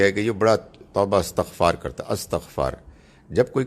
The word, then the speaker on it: استغفار: The difference between the two is correct way of pronouncing it and incorrect way of pronouncing it. استغفار صحیح لفظ ہے, استغفر اللہ یہ ہے صحیح.